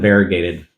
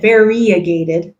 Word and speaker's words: variegated: on yeah although I I've heard it said variagated like variagated instead of variegated and it's spelled VAR variagated and so they're probably right and I'm probably wrong what I just say oh